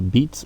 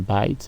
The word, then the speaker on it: bite: Alors, attention ici, ce n'est pas read or beat. En fait, il y a des petites voyelles qui ont glissé ici. Hein. C'est bite et puis nous avons write.